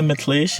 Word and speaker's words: Mithlesh: मेरा नाम है Mithlesh. You can call me, which is spelled M-I-T-H, not M-Y-T-H.